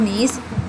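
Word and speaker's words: gneiss: अब अगला है नीस। नीस क्या है ? देखिए, वर्तनी में G तो है लेकिन G मौन है।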